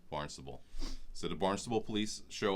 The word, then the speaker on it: Barnstable: So he calls the Barnstable, and yes, that's how you say it, Barnstable Police Department. When we first went, I called it, it's a talent, I called it Barnes Table because it looks like the word Barnes.